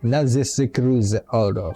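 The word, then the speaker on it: Narzissenkreuz Ordo: How do you say that? Narcissenkreuz Ordo. Yes, that was it.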